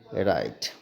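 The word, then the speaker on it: write: है W silent है अगर किसी स्पेलिंग की शुरुआत डब् एओ से होती है तो सामान्यता वहां पर डब्लू साइलेंट ही होता है यह बात भी ध्यान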